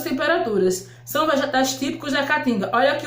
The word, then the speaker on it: caatinga: nordeste que é a catinga não confunda caatinga olha o nome dela aqui ó caatinga tem duas letras e a aqui ó no início da primeira sílaba tá vendo caatinga não confundas certo